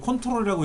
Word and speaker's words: Ctrl: CTRL이라고 적혀 있는 거. 그걸 컨트롤이라고 읽어요. 근데 이 컨트롤 키가 윈도우상에서 두 가지가 다 작동되는데 엑셀에서는 왼쪽 거만 작동돼요.